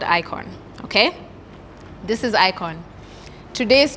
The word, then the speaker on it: IKOJN: the other way and icon came about so the J is silent okay it's a bit confusing to most many people when they see the the name uh they're like ah is that icogen I conjure what other